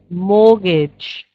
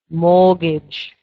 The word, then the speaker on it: mortgage: investment investment number three mortgage mortgage remember with this word we don't say the T Mortgage expenditure expenditure and